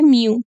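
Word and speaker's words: μ: dipole moment represented by mu so this this uh this symbol is uh pronunciated as Mu so dipole moment is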